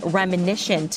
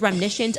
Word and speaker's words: reminiscent: Reminiscient. Remnis. Remnition. It is reminiscent.